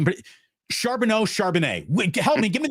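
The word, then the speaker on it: Charbonnet: I've heard his name, but Charbano Charbanet. Help me. Give me the pronunciation guide. Charbanet.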